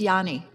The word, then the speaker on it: Ayani: It starts like with an I, but it's actually pronounced like a Y. So, it's Yanni.